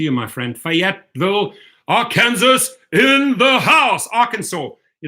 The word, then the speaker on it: Arkansas: and then it did me like dude it's Arkansas so pronouncation I go to work on that a